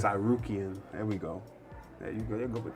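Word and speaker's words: Tsarukyan: Armen how do you say his last name sarian sarian there we go you go I believe man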